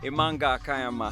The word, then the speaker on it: Imanga Kayama: and we just want to catch up with Amanga Kayama how are you hi Jali I'm good how